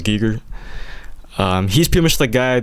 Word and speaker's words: Giger: HR Giger Geiger Geiger I'm sure it's pronounced as Geiger he's pretty much that